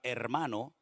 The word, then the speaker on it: hermano: va con h entonces la puede escribir con h o sin h se pronuncia Exactamente igual pero es cuestión ortográfica